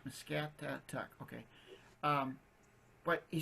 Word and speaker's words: Muscatatuck: I think of a cat, Muscatatuck.